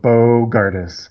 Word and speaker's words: Bogardus: Okay, how do you pronounce your last name though? Oh, Bogardus. Bogardus. Bogardus.